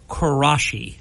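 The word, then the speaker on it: Quraishi: say is he's us District Court Judge zahed karashi that's right judge karashi okay and that is spelled qu r a i s h i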